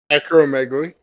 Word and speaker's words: acromegaly: Acromegaly. Acromegaly community. Okay, there you go. That's probably how I would have pronounced it, but you never know.